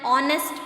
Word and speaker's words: honest: and before it here H is silent in these words are and honest right